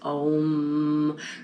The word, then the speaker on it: om: experiments but the chant om which is spelled om but pronounced like home without the h oh it's actually going